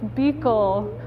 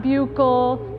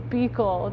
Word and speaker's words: Buechel: It's Buechel, not Buechel, not Buechel, not Bugle. It's Buechel. Just drop the U.